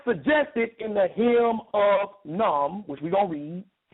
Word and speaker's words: Khnum: I don't think you pronounce the K and the H. So I'm just going to say Num.